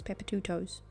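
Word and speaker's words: Papatoetoe: So it's spelled P A P A T O E T O E. So it's Pepper toes.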